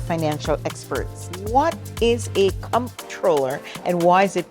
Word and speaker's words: comptroller: The role in the name is COMP. Yes. Now, for those of us that have worked in the private sector, we know it's CONNT, Yes. controller.